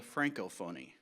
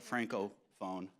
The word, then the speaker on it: Francophonie: the celebration of the Francophonie. And I would just point out and apologize for earlier, Shannon mispronounced that when she called it Francophone, and it's Francophonie.